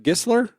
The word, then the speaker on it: Gisler: Eric Gisler?